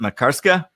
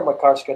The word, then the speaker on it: Makarska: Is it Makarska? Yeah, we're near Makarska, the Makarska Riviera.